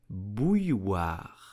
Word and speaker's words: bouilloire: French will pronounce it bouilloire. Bouilloire. First step is to say bouille. Then oire, bouilloire, une bouilloire.